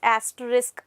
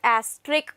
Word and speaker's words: asterisk: word it is not asterick beta first of all both students are saying that they you know assume this thingy s is silent over here so s is not silent although we pronounce they